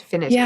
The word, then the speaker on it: finitude: If that's even how you pronounce it, finitude, right?